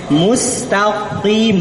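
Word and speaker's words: مستقيم: Mustaqim, bukan mustaqim. Kalau takim salah, itu huruf kaf, bukan huruf qaf.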